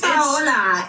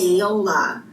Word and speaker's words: Paola: Well, it's Paula. Her name is Paola, and it's spelled the same way. Paola. Oh. And I told her that's the gringo version, and your name is Italian. It's Paola.